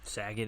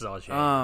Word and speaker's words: Sauget: Saget, Illinois. Bob Saget. No, it's Sauget. Something weird. It's something weird like that.